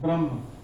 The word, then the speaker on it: ब्रह्म: ब्रह्म ब्रह्म ये भ्रम नहीं स्पेलिंग का देखना बी आर ए एच एम एन ब्रह्म ये जो मैं ब्रह्म बोल रहा हूं वही है एक ब्रह्मा जी अलग है उससे मत कंफ्यूज होना ठीक है ब्रह्मा जी